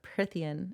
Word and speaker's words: Prythian: Amarantha is High Queen of Prythian. Is it Prythian, right? Mm-hmm. I can never remember. That's what I say. I say Prythian. Okay, Prythian.